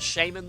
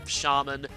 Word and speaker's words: shaman: Might have to watch out for that shaman, though, because, or shaman. According to Wikipedia, both pronunciations are correct, so I'm still going to say shaman.